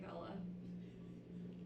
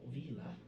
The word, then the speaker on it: Vela: I'm playing Vela, Not Vila.